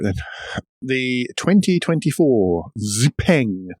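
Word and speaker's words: XPeng: right then the 2024 ziping I think that's how you pronounce it possibly not with quite as much emphasis it's not X Pang but it's a ping uh as you can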